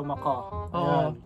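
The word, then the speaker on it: macaw: Okay, yung pronunciation ng Macau na ano, Macau. Kasi meron nagko-comment eh, Macau, Moko, Maka. Dati Macau din ako eh, kaso ano, marami nagkikritik dapat daw Maka.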